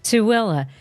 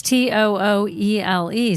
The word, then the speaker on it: Tooele: Tooele. But it doesn't Tooele. look like that because it's Tooele.